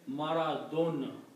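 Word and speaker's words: مرض: But the original Arabic word should be pronounced as maradon. Okay? Like the sound of D, not sound of Z.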